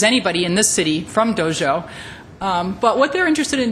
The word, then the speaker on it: Dezhou: This city, which is called Dezhou, and it's spelled D-E-Z-H-O-U, is interested in being what they call a friendly relations city with the United States.